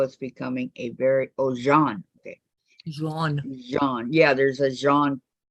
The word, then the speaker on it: Jean: that I will and Gene my name is pronounced John in French Orlando is becoming a very oh Jean okay yeah there's a